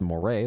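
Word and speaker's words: 漏れ: Mid-2000s Japanese internet culture even had its own special pronoun, more, pronounced moray, like the eel, and ran with the kanji for leaking, which Takumi and Grimm would often use in online chats.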